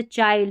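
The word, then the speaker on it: child: जैसे चाइल्ड, इसमें चिल्ड नहीं, काइंड इसमें किंड नहीं, फाइंड इसमें भी फिंड नहीं, और माइंड इसको भी मिंड नहीं पढ़ेंगे नियम के अनुसार।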